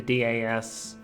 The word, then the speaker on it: DS: Is the DAS reacting? So, okay, so I guess we're supposed to pronounce it DAS and not DAS.